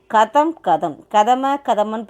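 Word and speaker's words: कदम: தேர்டாக என்ன பார்க்குறோம், கதமன்னு படிக்கிறது இல்லை, எப்படி படிக்கிறோம், கதம், ஸ்டெப் பை ஸ்டெப், கதம்.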